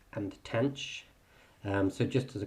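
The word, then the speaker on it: tanh: tangent um but these are Kosh cinch and tanch um so just as a quick pronunciation Kos seems fairly obvious the sign with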